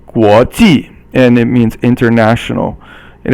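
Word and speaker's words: 国际: The next one is second tone, guo, and then ji is fourth tone. Guo ji, and it means international.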